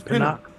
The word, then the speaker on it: Pinnock: Some kid by the name of Peanut. Yeah, but man, I'm still mad that we got. It's not Peanut. They pronounce it different. It's Pinnock. Pinnock.